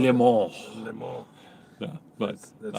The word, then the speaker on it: Le Mans: like, "You're pronouncing it wrong. No, It's no. Le Mans."